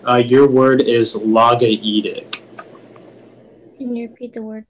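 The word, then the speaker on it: logaoedic: The sense is Chang wrote a logaedic poetry about peasants having a meter between song and common speech. And once again, the word is logaedic. Logaedic. Am I saying it correctly? Logaedic? That sounds right.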